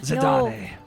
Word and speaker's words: Zidane: It's more like the French. Yeah, Zidane.